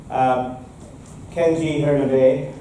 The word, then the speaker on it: Kenji Hiranabe: We have this great speaker, Kenji Hiranabe. Did I pronounce it okay?